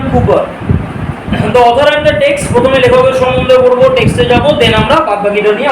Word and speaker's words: Cowper: কার লেখা William কুপার কাউার নয় উচ্চারণটা হচ্ছে উইলিয়াম কুপার প্রথমে লেখকের সমস আমরা